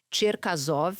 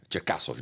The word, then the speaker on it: Cherkasov: Quero falar então desse Vittor Miller Ferreira, que é o Sergei Tierkaov. É Cherkasov, né? Em russo é Cherov.